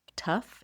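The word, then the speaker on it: tuff: They are made from something called volc tough and the tough is spelled tuf.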